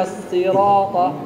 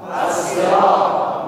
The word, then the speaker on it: الصراط: الصراط الصراط الصراط الصراط لا تقل الصراط او الصراط لا تحرك شفتيك لانها لا تحتاج الى حركه jangan digerakkan bibirnya karena dia bukan huruf bibir الصراط الصراط الصراط مخرج الصاد والسين من نفس المخرج لكن الذي يختلف الشفاء